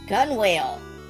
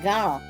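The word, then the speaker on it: gunwale: Gun whale. The low ridge on the side of a ship's top deck to stop guns rolling off it. Guess how it's pronounced? That's right, it's pronounced gunnel.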